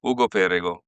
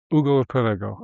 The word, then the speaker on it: Ugo Perego: Actually, you should say your name because I don't want to mispronounce it. This is good. Anyway, Ugo Pergo. Ugo Perego.